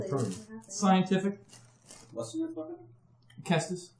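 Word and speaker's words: cestus: Kestis. It's a Kestis. C-E-S-T-U-S. And now, it is action. Oh, Latin. You pronounce C's hard.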